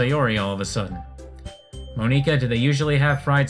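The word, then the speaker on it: Monika: saying her name wrong is it supposed to be Monica because if these are Japanese characters it should be pronounced mo nica as like three three character Sybil three characters mo nee kah so is it supposed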